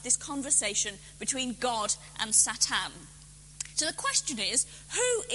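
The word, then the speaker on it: שָׂטָן: Actually, the word Satan, and I'm saying it in the Hebrew pronunciation rather than English so that you're clear that I'm talking about this Hebrew character, the word Satan means the accuser, the one who asks questions.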